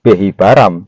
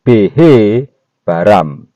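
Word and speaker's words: בהבראם: Tetapi kalau kita melihat dari pola Ibrani, maka bunyinya bukan behi baram tapi behe baram.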